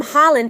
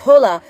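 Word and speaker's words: Haaland: I was calling him Holland, but then I found out the right pronunciation is Hula, Rola, and my middle school humor from Goiânia.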